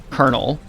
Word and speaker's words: colonel: In the English language, we say colonel like a piece of corn, but it's spelled colonal.